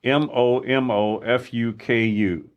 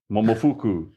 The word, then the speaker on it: Momofuku: Okay, here, I'm going to spell it first. It's Momofuku. Momofuku.